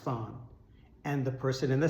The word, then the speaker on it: fan: Things that double your score like this are called fans. It's spelled F-A-N, but it's pronounced fawn.